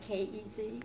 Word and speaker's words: Kes: And you spell it K-E-Z? K-E-S. K-E-S? Yes. Pronounced Kez.